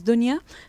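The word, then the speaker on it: دنيا: taxi in paragraph five the word Dunya comes up or sometimes we pronounce it Dinia sometimes Dunya and it means the world and I just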